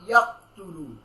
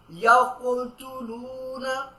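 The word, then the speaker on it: يقتلون: এইভাবে ওয়ায়াকুলতুলু ওয়ায়াকু, ইয়া কফ দেবর ইয়াকু, নট ইয়াকতুলু না, এটা ভুল। ইয়াকুলতুলুনা ইয়াকুলতুলুনা নাবিয়িনা বিগাইরিল হক।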